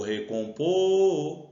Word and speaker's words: recompor: De novo, o recompor. Opa, recompor a sílaba tônica dele. O recompor é o pô. Então, ela é uma oxítona, mas ela terminou em R.